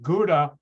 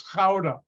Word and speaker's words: Gouda: Americans pronounce it Gouda. No, it's Gouda.